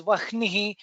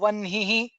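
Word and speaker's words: वह्निः: There are also Shamitam, there are also people who pronounce as wahnihi and jahnuhu. We will not get into the grammatical uh, peculiarity of these things, but what we are following is as it is taught to us by our guru, which is aha samvartako vanhihi janhur narayano narah. That's how we have been pronouncing, that's how we will continue to pronounce.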